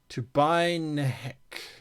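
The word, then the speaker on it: Tubai Nehc: So I'll spell it for you. You got it. And then Nehc. Tubai Nehek.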